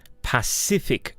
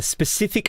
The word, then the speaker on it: Pacific: we will conclude so how do you pronounce that word well the path cific ocean Pacific Ocean I remember my friend he said hey jazz the specific ocean oh and what the